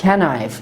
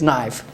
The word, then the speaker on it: knife: It is not knife, it is knife. So if we use letter N after K, so K is silent.